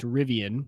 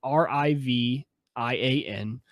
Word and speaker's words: Rivian: So there is a new kind of startup company that's starting up, and their new truck is, I believe it's pronounced Rivian, so Rivian.